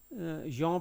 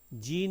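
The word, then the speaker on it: Jean: जो है करेक्ट करिएगा, जीन नहीं है, जॉन है, फ्रेंच वर्ड है, ये फ्रेंच थे तो इसको प्रोनाउंस जो है जॉन कहते हैं, जॉन पियाजे।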